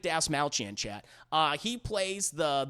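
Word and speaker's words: Dastmalchian: have David Des malchin by the way I feel like a superhero being able to finally say his name correctly David Das malchan chat uh he plays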